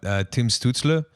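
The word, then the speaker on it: Stützle: Like they just got Tim Stutzle, that's how you pronounce it, I believe. Yeah, that's right.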